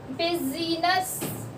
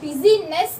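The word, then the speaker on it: business: उसके अलावा आई से क्या होता है, आई कौन कौन से होते हैं भैया, बिजीनेस, हमने बिजीनेस नहीं बोला, बिजनेस बोला है, ठीक है, बिजनेस, तो आई जो होता है वो साइलेंट होता है।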